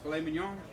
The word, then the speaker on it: filet mignon: And then this right here is filet mignon.